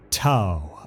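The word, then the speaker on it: T'au: ethereal Supreme AA the T apostrophe Au Empire pronounced ta as in WoW also spelled th hu Empire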